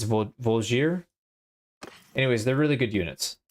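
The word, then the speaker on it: Voulgier: how to pronounce that I used to say blue jay but somebody said that's not not right so I think it's volzier anyways they're really good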